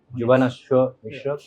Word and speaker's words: Jubanashwa Mishra: Jubanashwa Mishra. Am I pronouncing it right? Yeah. Yeah. That's right. Absolutely correct. Yeah. Yeah. Jubanaswa. Jubanashwa Mishra.